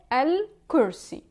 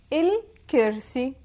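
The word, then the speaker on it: الكرسي: In the MSA, Modern Standard Arabic, it is pronounced al. But in the Levantine dialect, we pronounce it il. For example, the chair, in the Modern Standard Arabic, you would say al-kursi. In the Levantine dialect, we would say il-kirsi.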